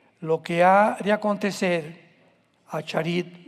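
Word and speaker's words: אחרית: Postreros es acharit, así como suena con CH, se pronuncia acharit, acharit.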